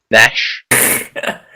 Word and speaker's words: niche: Okay, Also, it's pronounced niche, Randy. How was he What did saying he it? say? you say Itch. tomato, I say I Itch. don't give a fuck. Nash.